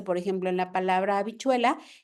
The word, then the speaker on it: habichuela: Entonces aquí va a verse, por ejemplo, en la palabra habichuela, que la H sí va, pero se escribe afuera, ¿no? Porque no tiene un sonido como tal, pero sí se tiene que escribir, ¿no?